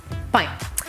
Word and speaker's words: pain: Petit pain, pain que es pan, pero A-I-N hace el sonido ein, así que petit pain.